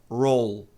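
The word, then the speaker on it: role: O E não é pronunciado, né? Então a pronúncia correta é roll.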